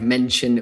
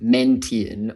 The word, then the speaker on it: mention: There was also a moment in time where a word like mention would have been pronounced mentian or something like that, but the T-I-O-N in English, if you say it enough times over and over, tian, tian, tian, chin, chin, chin, shin, it just becomes a lot easier to say shin.